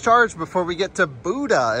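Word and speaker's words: Bodø: before we get to Buda, is how they say it, I think. Buda, but it's spelled Bodo.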